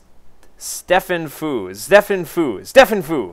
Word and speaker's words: sztefenfu: And his opponent today on the southern position is going to be sztefenfu. That's how he told me how to pronounce it.